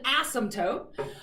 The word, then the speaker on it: asymptote: to have an asymptote except you don't actually say the p i have to say it in my head every time i spell it because there's this stupid silent p alright so it's really called an asymptote um and an asymptote